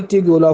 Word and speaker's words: Tugela: यहाँ पे एक फॉल्स भी है, वाटरफॉल है यहाँ पे, आप उसका नाम भी याद रखेंगे, उसका नाम है ट्यूगेला फॉल्स, ठीक है। ट्यूगेला फॉल्स की स्पेलिंग आप नोट कर ले, TUGELA, ट्यूगेला फॉल्स, ठीक है।